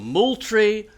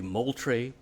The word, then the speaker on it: Moultrie: Henry Drayton, General William Moultrie. Note the pronunciation, please, because I'm really tired of hearing civilized South Carolinians say Moultrie. As a graduate of General William Moultrie High School, let's get this name straight.